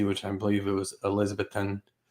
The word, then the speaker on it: Elizabethton: I believe it was Elizabethton, I think that's how you say it.